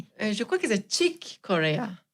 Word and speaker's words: Chick Corea: Donc, Chick Corea, ça se prononce comment d'ailleurs, Céline ? Je crois que c'est Chick Corea. Chick Corea.